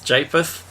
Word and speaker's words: Japheth: How do we pronounce this one? Japheth? Japheth.